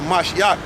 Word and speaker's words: Mashiach: which is Christ there, but a Mashiach, that's how you say it in Hebrew, which means anointed.